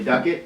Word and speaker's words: Duckett: of bonafide business talks I'm here with Ashley Duquette is that how you pronounce that correctly yeah okay with we ensure